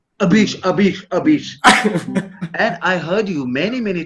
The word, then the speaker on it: Abish: And Hey, Avish, you always caught me for mispronouncing your name. Abish.